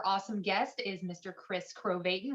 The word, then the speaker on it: Krovatin: guest is mr chris crovatin rhymes with satan but he's definitely more